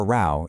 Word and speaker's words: row: Chloe has just had a row with a friend. Now, a quick note on pronunciation here. It sounds like cow, not row, like rowing a boat. To have a row is a very classic